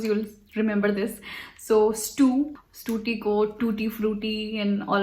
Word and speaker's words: Stuti: So when I was living in the US, over there, you know, Americans have like this problem pronouncing the, like, you know, they were not able to say Stuti, so they would call me Stuti or Stuti.